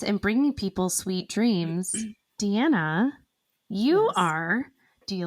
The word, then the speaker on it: Diana: and you want to look at your name and say Diana but it's Deanna and Lisa I was